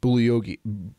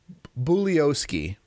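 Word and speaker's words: Bugliosi: was written by Vincent bully okie bully Oski bully OC Bulli OC G is silent he's the guy that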